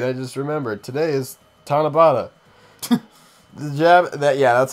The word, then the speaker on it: Tanabata: passage oh wait I just remembered today is tanabata the jab that yeah that's how you say